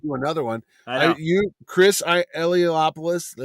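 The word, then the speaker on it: Eliopoulos: You Chris Elopoulos. How do you say it? Ilopoulos.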